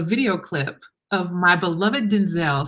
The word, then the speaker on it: Denzel: I saw the video clip of my beloved Denzel saying his name is actually pronounced Denzel, I can't say it any different now.